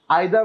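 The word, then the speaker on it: either: না না না না এরপরে পড়বো আমরা ডাউন ডাউন গায়ে আইদার অথবা ইদার পড়ে ফেলি এটার উচ্চারণ আইদার অথবা ইদার দুইটি হয় ডিস্ট্রিবিউটিভ প্রনাউন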